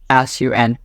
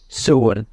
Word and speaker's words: Sun: ว่ า the words sun don't read that word as in English sounds. Sun is not sun. In Zomi, we pronounce that word soon.